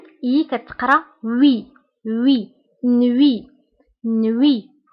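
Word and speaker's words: nuit: نوي، فسابقا قلت أن او اي كتقرا وي وي، نوي نوي. هنا تي في آخر الكلمة لا ننطقها، نوي.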